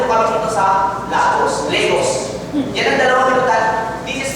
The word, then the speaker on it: Lagos: sa Legos it is it is spelled as lagos but pronounced as Legos so para alam nila kapag foreigner k pag sinabi nong lagos you're not from Nigeria Yes kasi It's pronounced as Legos ngayon mga kaibigan pumunta